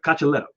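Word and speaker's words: Cocciaretto: that was not bad it's uh cacheleto so you catch a letter yeah so the t's are L's uh apparently okay listen I didn't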